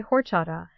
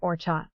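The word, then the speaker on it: horchata: A lot of people see the spelling and say horada, but the H is completely silent. You say it like orcha.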